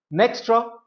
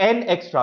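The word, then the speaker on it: Nxtra: अब भारती एयरटेल के इस डेटा सेंटर बिजनेस का नाम आपको बताना है, एंड the answer is नेक्स्ट्रा data, या एन एक्स्ट्रा, आप जैसे भी प्रोनाउंस करना चाहें, ये नाम आपके सामने, एन एक्स्ट्रा या नेक्स्ट्रा डेटा।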